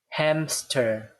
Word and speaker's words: hamster: However, when we actually pronounce this word, we have a P sound here. Hamster, hamster, right?